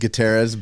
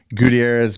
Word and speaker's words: Gutierrez: It's I was raised Guiterrez, but it's just a matter of pronunciation. So Gutierrez, Guiterrez, I've been called it all, and I will answer to all that.